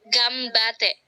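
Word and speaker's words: 頑張って: Yang masuk ke vokal B, maka N-nya dibaca ke M. Jadi dibacanya apa, Kak Ditya? Sekali lagi. Gambate.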